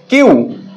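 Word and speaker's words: queue: এই চারটা লেটারের উচ্চারণ একটুও হচ্ছে না। শুধুমাত্র কিউ এর উচ্চারণ হচ্ছে।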